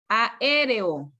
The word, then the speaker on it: aéreo: Cuando usted pronuncia aéreo, aquí está la mayor fuerza de voz.